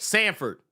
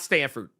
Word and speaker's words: Sanford: Said Sanford, not Stanford.